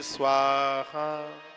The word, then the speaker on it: स्वाहा: इसलिए यज्ञ में स्वाहा, स्वा के संग हा का उच्चारण होता है। ओम ब्रह्मणे स्वाहा, ओम अग्नये स्वाहा, ओम सोमाय स्वाहा।